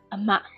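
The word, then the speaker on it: အမ: It is how it is spelled, but we pronounce a ma.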